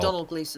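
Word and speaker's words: Domhnall Gleeson: Donald Gleason.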